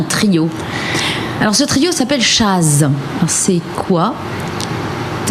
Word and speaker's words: Chazz: Oui, c'est entre jazz, Voilà, entre chat et jazz. chat, jazz, Voilà. jazz. Chaz. Voilà, c'est Chaz.